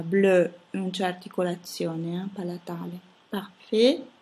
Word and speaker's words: parfait: Parfait, ahi si pronuncia E, T finale muta.